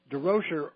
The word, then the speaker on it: Durocher: And he said, "No, but he said d Roer rhymes with kosher."